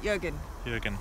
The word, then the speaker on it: Jürgen: Jürgen.